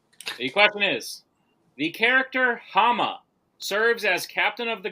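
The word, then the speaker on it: Háma: The question is, the character Hama serves as captain of the guard under which Middle-earth king? Also may be pronounced Hama. You had it right the first time.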